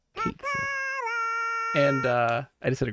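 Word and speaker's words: Cait Sith: I pronounce it Kate Sith.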